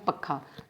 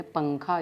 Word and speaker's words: पंखा: अब देखिए पंखा, अगर इसके ऊपर से अनुस्वार हटा दिया जाए तो किस प्रकार उच्चारण होगा? पक्खा, जो कि अशुद्ध उच्चारण है। इसके लिए इसके हमने साथ में एक अनुस्वार लगाया तो बोले पंखा, ये शुद्ध उच्चारण होता है।